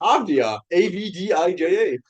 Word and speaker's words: Avdija: Denny Avdia. Avdia. Avdia. It's Avdia.